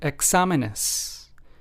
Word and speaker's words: exámenes: So let's take the example word exámenes. In this word, we have the accent on the second syllable, despite this word exámenes having four syllables.